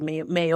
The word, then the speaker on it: Meir: It's Meir." But it's not pronounced that way. It's like Mayor or something like that.